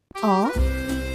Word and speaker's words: on: On is pronounced with a nasal vowel at the end and a silent n.